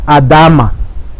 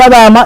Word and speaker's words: Adama: tierra o el terráqueo, del cual Adán fue creado, pronunciado Adama. Esa es la pronunciación correcta, Adama. Cuando Dios dice Adama, es la misma raíz que significa la conexión con Gadoy, Goel.